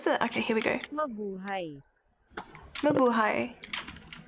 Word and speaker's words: Mabuhay: Mabuhay. It's Mabuhay.